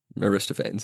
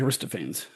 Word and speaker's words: Aristophanes: Aristophanes. Yeah. So if you read it, it looks like Aristophans. Why wouldn't it be? Because it's Greek and in Greek you pronounce all the letters.